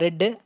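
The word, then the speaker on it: read: Past டென்ஸில் ரெட்டு. ஆனால் ரெட்டுன்னு படிப்பாங்க. But word வந்து ஆர்இஏடி தான், அந்த ஆர்இஏடி தான். பட் அதை நம்ம ப்ரொனவுன்ஸ் பண்ணுறது வந்து ரெட்டுன்னு பண்ண ஃப்ரெண்ட்ஸ்.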